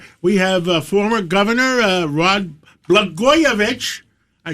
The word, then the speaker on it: Blagojevich: Well, Blagojevich rhymes with Catsimatidis, and in California, I believe they're stealing votes.